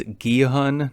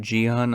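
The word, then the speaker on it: Gi-hun: Holy, just realized I've been pronouncing his name wrong. It's Guhan, not Gihon.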